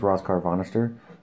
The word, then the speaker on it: Rascarvonestir: your name and i go oh my name's ross carvannister oh how do you spell that and they thought i made that up